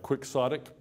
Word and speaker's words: quixotic: A quixotic pursuit, what does that adjective mean, quixotic? What? Okay, what's it based on? Don Quixote. It's spelled Q-U-I-X-O-T-I-C. So you got quix and exotic part together.